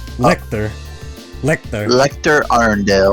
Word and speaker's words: Lechter: I'm just lick liquor it's like Hector but replace Hector's name with the L yeah yeah letter Lecter